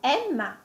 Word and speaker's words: Emma: et ici j'ai également donné deux exemples avec Emma Emma avec le E ouvert et Edoardo avec le E fermé entendre Emma sentir comment